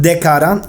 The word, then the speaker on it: D'Cada: Tell us It's called Dcada, Refrescos Certificados Orgánicos. Oh, and like organic juice blends. I hope that's Dcada.